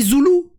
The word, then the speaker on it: Zouloux: un peu comme Nintendo on dit zoulou on prononce pas le X ah c'est comme Chamonix